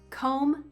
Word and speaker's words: comb: Comb, tomb, bomb. O, oo, ah.